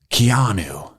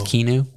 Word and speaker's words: Keanu: love keanu i love keanu i believe it's kinu yeah it's pronounced kinu i know how to write comic books i was waiting for your keanu impersonation i was just